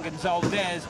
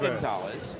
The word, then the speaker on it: Gonzalez: And again, Gonzalez, not Gonzalez. Which again, we've been told at the beginning of the broadcast, do not pronounce his name Gonzalez. Mm-hmm. It is Gonzalez.